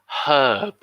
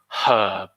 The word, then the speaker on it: herb: You could have a herb garden. And with herb, we aspirate the H in English. We say herb. Although that is UK English, we say herb. In the US, they say herb.